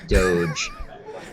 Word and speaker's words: doge: funny looking dog and the fact that it's pronounced doge and it's a dog but it's not that's